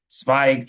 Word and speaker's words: Zweig: Um, it's Zweig, like the Austrian um, writer from the great Austrian writer Stefan Zweig from the last century.